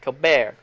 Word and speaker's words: Colbert: It's Cobert. I have called him Cobert, and he does not like it. He puts like a French pronunciation on it. Colbert.